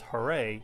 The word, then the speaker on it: Hare: Krishna directly as for the word Hare pronounced hurray it's a call to